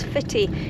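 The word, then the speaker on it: Footdee: There's also very well-maintained public toilets in there at Fitty. And this is what is known as the Fitty end of the beach. It's spelled foot d but pronounced by locals as fitti.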